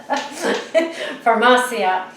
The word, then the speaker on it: Farmacia: I put the emphasis on the wrong syllable. So Farmacia.